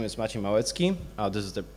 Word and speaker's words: Maciej Malecki: introduced me already uh but my name is machi moetsky oh this is how you spell it properly you know so i write code